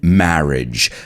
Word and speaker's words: marriage: According to Wikipedia, a wedding is a ceremony where two people are united in marriage. Let's pronounce that word together.